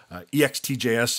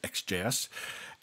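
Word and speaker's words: Ext JS: check out centric comm slash products thus XJS ext Jas is pronounced XJS docs Sencha comm that blink there shows you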